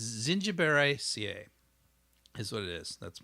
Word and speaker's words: Zingiberaceae: It's Zingiberaceae is what it is. That's my best attempt at pronunciation. Zingiberaceae.